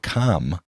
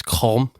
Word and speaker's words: Qom: I believe I think it's kind of pronounced like home almost, like it's Qom.